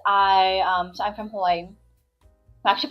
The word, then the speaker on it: Hawaii: I was very fortunate because I um so I'm from Hawaii actually pronounc it havi but and um there was this one um doctor his name is Dr.